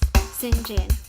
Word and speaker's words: St John: of a guy name St John pronounced s Jin for a year she